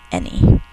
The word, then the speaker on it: any: four any any child would love that candy any two syllables we think to spell a there's a